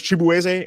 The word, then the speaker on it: Chibu: your name, your real name is Chibu and they've mispronounced it, so you're now.